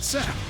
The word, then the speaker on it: Sapp: The chef is David Sapp. Even his name rhymes with app.